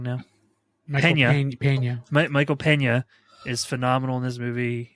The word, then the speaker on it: Peña: is very good but like I said Michael pñ I think I said it wrong now paa Michael Peña is phenomenal in this movie um I think